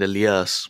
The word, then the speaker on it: Elias: Shout out to Elias. It's really hard to say his name in English because I'm used to saying Elias, but Elias, whatever.